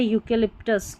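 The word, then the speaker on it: eucalyptus: फिर है EU को यू पढ़ते हैं, इसका उच्चारण होता है EU का यू।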